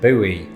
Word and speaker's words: buoy: what is that thing a boy can serve many purposes its biggest purpose though is starting flame wars between Brits and Americans the latter of whom usually pronounced it buoy by is sick of